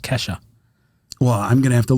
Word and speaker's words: Kesha: songs growing up, and one of them was Kesha. Yeah, I didn't know who I it pronounced was. it Keisha. You said Keisha.